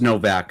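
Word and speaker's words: Nowak: And they pronounce it with a W. Like a V.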